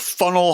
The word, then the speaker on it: Faneuil: I point this out because Hamilton spells the name of the benefactor who built the new market that's named after him Funnell. So that must have been the pronunciation that he heard on the streets of Boston in 1744 for the landmark